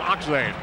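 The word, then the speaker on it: Achtzehn: off now to Dana spells that name a-c-h-t-z-e-h-n pronounces it oxen on the right wing Rick Roberts number four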